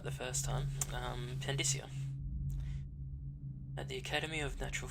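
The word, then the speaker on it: Pandyssia: Mysteries of Pandisia. Excerpt from a book on the far continent. No, I said it right the first time. Pandisia.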